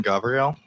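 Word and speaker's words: Gavril: record hi um I'm Gabrielle um my question pertains to could you spell that g a v r i l it's like Gabriel with the V okay thank you um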